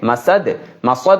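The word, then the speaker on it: مسد: এখানে এটা মিম মাসাদ সিন উচ্চারণটা যেন ঠিক থাকে মাসাদ মাসাদ যেন সদ উচ্চারণ যেন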